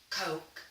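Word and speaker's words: caulk: bathroom around the sink CA you LK the L is silent like walk-and-talk Kok Kok Kok cop now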